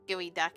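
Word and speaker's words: geoduck: K yeah I had gooey duck egg and I was like I think that I think that's how you spell it geod duck but it's gooey ah what have you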